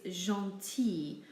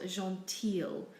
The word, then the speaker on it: gentil: for nice or kind its gentil not Jean teal we simply say e for the I in the L here are a few